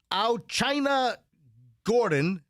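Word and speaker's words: Au'Chyna: Let's see, we got China Gordon. By the way, that's spelled AU apostrophe CHYNA.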